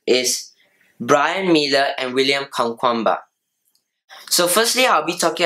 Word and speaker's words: Kamkwamba: William Kamkwamba, or pronounced in Malawian, William Kamkwamba.